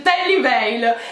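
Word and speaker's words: Tally Weijl: mai saputo pronunciare ok ho scoperto che si tratta di un marchio svizzero precisamente della parte della svizzera in cui si parla tedesco e si pronuncia che liberi ok quindi abbiamo ragione a dire la v in quel modo ma non pensavo diciassettenni pensavo tali livelli si dice terry bale abbastanza difficile ma ci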